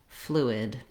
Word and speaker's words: fluid: In this video, we'll look at how to pronounce fluent and fluid. These words are similar. Both words have the stress on the first syllable, and they start with the flu sound.